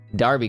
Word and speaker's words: Derby: Bars pronounce Derby. Oh, okay. Well, I'm okay with you correct me on that cuz I would like to know if I'm butchering the out of a pronunciation. Darby Club. Gotcha. Or Darby County.